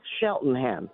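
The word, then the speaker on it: Cheltenham: and sheltonham hey Sean how do you say it first of all sheltonham or sheltonham it is sheltonham it is not sheltonham we're not in England come on Sean I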